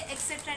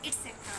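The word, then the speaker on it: etcetera: तो ये एक्सट्रा नहीं होता है। एटसेट्रा होता है एटसेट्रा।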